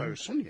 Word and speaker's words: boatswain: Boatswain, that's bosun. bosun, yes.